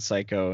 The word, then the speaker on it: psycho: sid they're like hey the p is silent and psycho and he's like well